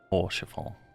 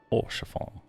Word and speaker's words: Orchefort: Orchefort. Orchefort. T is silent.